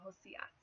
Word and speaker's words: Josias: However, Spanish-speaking people would of course be likely to pronounce it Josias.